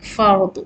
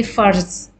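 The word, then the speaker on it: فرض: Actually, the actual word, original word is Arabic, fard with daad. But in Urdu, we say farz. Because in Urdu, the daad is pronounced as za, farz.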